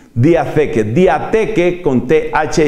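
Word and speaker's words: διαθήκη: Además, esa T va con una H, se pronuncia algo así como diatheke, diatheke, diateke con TH y con K.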